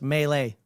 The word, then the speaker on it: melee: Even though he says pronounced melee, that is right.